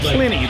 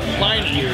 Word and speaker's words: Pliny: And properly, it's Pliny. The man was called Pliny. Yeah. But here in America, we call it Pliny.